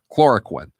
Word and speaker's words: hydroxychloroquine: So let me ask you first about this old malaria drug, hydroxychloroquine. Is that how you pronounce it? Chloroquine. Yep. Like quinine, right?